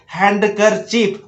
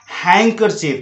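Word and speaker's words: handkerchief: जैसे देखिए गलती से आप अभी तक पढ़ रहे थे हैंडकरचीफ, और अच्छे अच्छे टीचर्स लोग भी गलत उच्चारण करते हैं, हैंडकरचीफ नहीं होता है हैंकरचीफ, क्योंकि डी का तो उच्चारण है ही नहीं, डी तो साइलेंट है, तो हैंडकरचीफ होना चाहिए।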